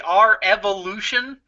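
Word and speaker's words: R-Evolution: Yeah, I think it's supposed to be R Evolution. Yeah. Is how I heard it pronounced on the WWE Network.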